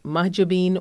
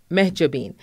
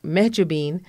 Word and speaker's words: Mahjabeen: days I still remember my name actually can be pronounced mahjabin or mahjabin and someone introduced me as meab bean and a salesperson heard